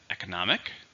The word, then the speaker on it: economic: We also have economic, which is related to the economy, but it's an adjective. Listen, how many syllables? Economic. 4, stress on the third syllable.